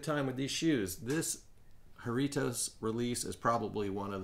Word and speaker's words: Jarritos: um in the video so haritos is the proper way to say it right and it stands